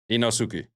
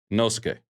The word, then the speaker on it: Inosuke: Inosuke. The U is silent. Inosuke.